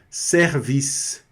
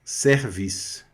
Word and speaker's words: service: Service, né? Olha aí. Fica mais aberto. Service, tá?